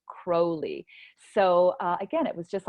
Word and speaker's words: Crowley: and it's spelled Crowley, which I would have pronounced as Crowley, Crowley, but in fact there was a big point about his name being pronounced Crowley.